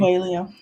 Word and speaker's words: Coelho: And Jess, if you know the proper pronunciation of this person's name, will you Paulo correct me? Coelho.